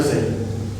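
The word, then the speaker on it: زاي: maintenant voir la lettre zay. La lettre z, au niveau de la prononciation, elle va venir se prononcer comme la lettre z que nous on retrouve en langue française.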